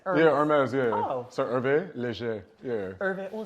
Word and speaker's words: Hervé Léger: but H is silent in French. Oh, that's like Hermès. Yeah, Hermès, yeah. Oh. So Hervé Leger, yeah. Hervé. Oh, say it again to me. Hervé Leger.